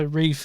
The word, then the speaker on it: Ralph: other than Voldemort himself, Ralph Fiennes. He goes by Rafe in the UK. That L's not pronounced. It's stupid. Rafe?